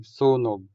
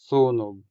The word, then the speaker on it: sunog: The stress falls on the first syllable, making u in this syllable longer than the u in the final syllable. So you say sunog, sunog, sunog.